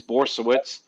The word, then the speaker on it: Borysiewicz: How do you actually pronounce it? Now, I doubt I'll remember, but I do want to hear it. It's Borysiewicz.